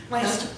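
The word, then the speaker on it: Launceston: sounded like to me, but it had a whole bunch of extra letters in it that didn't get pronounced. Lanston.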